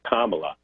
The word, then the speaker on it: Kamala: It's a very simple name to pronounce. It's Kamala, and this is an outlet for them to feed the fury of the mongrels that we saw attack the Capitol.